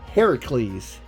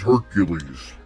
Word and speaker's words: Heracles: his name is pronounced heracles everyone says hercules right everybody is pronouncing the roman um everybody is pronouncing the roman translated version of the greek name which is actually pronounced heracles why does everybody get